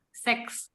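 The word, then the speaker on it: sechs: Angka 6 ini dalam bahasa Jerman itu seks. Jadi si CH-nya ini dibaca seperti H, seks.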